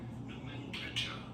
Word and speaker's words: nomenclature: In British English, this is normally pronounced as nomenclature. Thank you. Nomenclature with an emphasis on the second syllable.